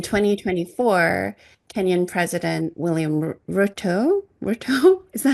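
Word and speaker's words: Ruto: So in terms of Kenya though in 2024 Kenyan President William RTO RTO is that how you say his name?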